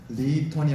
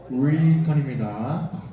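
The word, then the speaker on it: Return: 읽어보겠습니다 시작 리턴 오케이 알 발음이니까 리턴이 아니라 혀 뒤로 굴려서 로이턴입니다 제가 혀 안쪽에 뭐가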